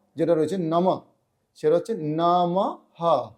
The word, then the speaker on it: নমঃ: রয়েছে নমঃ সেটা হচ্ছে নমহ বিসর্গটা জায়গায় একটা হ এর উচ্চারণ আসবে তো এইভাবে যদি আপনারা